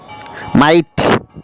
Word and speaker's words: might: এই সমস্ত ওয়ার্ডের মাঝে জিএইচ এর উচ্চারণ হয় না।